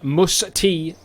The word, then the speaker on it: Mus-T: Mus-T, I believe, is the closest that I can get to pronouncing his name correctly.